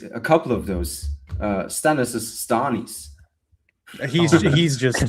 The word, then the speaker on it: Stannis: My favorite As a man who constantly pronounces things wrong, he's wrong. It's It's Stan- It's Stannis, okay?